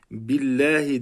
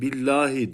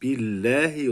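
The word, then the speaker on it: بالله: okunuyor burası çok önemli Arkadaş bazıları billahi diyeceğine billahi diyor yanlış billahi olması gerekiyor çünkü B harfi esreli bi i sesiyle okunuyorsa Allah ismi de e sesiyle okunması gerekiyor A sesiyle e sesiyle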